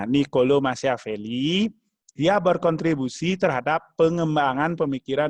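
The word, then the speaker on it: Niccolò Machiavelli: ada dua tokoh disana yaitu pertama nicolo machiavelli bacanya nicolo machiavelli ia berkontribusi terhadap pengembangan pemikiran mitasi dan manajemen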